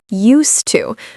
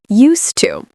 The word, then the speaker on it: used to: Used to. Okay? So, even though there's an ed, we're not pronouncing it like used. We're pronouncing it as one syllable as use. Used to.